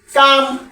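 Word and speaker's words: calm: আমরা সবাই খেয়াল রাখবো যে কোন শব্দের শেষে যদি এ কে এফ এম থাকে তার আগে লেটার যদি এল হয় তখন এল সাইলেন্ট হয়ে যায় কাফ হাফ কাম ফর্ম এইরকম ওয়ার্ড অসংখ্য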